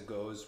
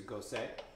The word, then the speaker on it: Gose: than i do uh i used to call this a ghost we just learned it's a gosei and there's three or